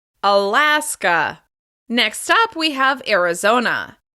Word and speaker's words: Arizona: Next up, we have Arizona. Arizona. The stress is on the third syllable.